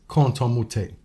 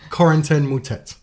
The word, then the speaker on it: Corentin Moutet: One of the most quote-unquote egregious examples of this is Canton Moutet, right? Yeah. His player profile says... He's French. Corentin Moutet.